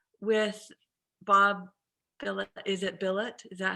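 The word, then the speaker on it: Bilott: could we start with bob villa is it billet is that how you pronounce it uh balot yeah yeah what was interesting in terms of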